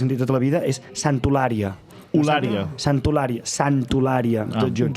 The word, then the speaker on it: Santa Eulàlia: tota la vida, és Santolària. Santolària, tot junt. Just quan veníem dèiem que perquè a Eivissa Santa Eulària es diu amb R, en canvi aquí s'escriu amb L.